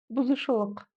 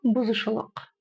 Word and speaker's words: бұзушылық: Помним о том, что буква У с черточкой снизу– это краткая версия буквы О.